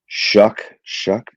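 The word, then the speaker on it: Shough: Yeah, kid out of Shuck. What is it? Yeah. Kid It's out spelled of show, but it's pronounced shuck.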